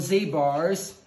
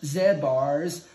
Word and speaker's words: Z bar: dessert snack or anything these are called z bars if i was watching myself in parts of the uk or australia this we've been called zed bars there can be other